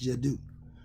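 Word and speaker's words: Djeddu: Jedi, okay, it's spelled D-J-E-D-D-U. It's Jadu.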